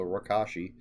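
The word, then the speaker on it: Rakoshi: edition that's called rakashi the reason i think that's how it's pronounced is because jack mishears somebody that says it and thinks they said my gosh so that's why i'm going with the kosh because it sounds like gosh so rakashi um yeah so it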